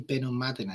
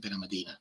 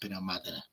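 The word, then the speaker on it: Benalmádena: It's actually Benomadina because there's an accent on the A. Most Brits call it Benomadina, but it's Benomadina.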